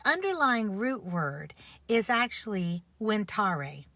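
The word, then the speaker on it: venire: root word is actually winar the V is pronounced like a w in Latin and it means to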